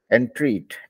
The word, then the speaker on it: entreat: होता है, सो I make my whole class pronounce it. So I'll be shameless in doing so. Okay, so entreat, entreat, entreat, entreat, entreat.